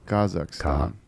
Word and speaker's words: Kazakh: said as Kaz so that's a stress on the first syllable kazak dude he has 1.5